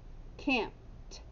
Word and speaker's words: camped: now echo me can't camped i camped out over the weekend what sound does the ed make that's right it makes the sound of t can't and since we